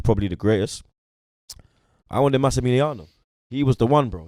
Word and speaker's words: Massimiliano: Massimiliano, he's a man that I rate I love highly.